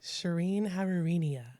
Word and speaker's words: Shirin Haririnia: I mean, just how it's spelled with the R's and the I's. I don't think anybody could assume that based on how they read it.